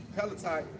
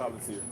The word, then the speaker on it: Palantir: They say expressed their frustration with Palatine, like you said. Palantir.